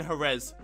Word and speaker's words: Jerez: It's going to be the Spanish Grand Prix in Jerez.